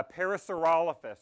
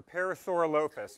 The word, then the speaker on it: Parasaurolophus: Yeah, Parasaurolophus or Parasaurolophus. And you can pronounce it either way.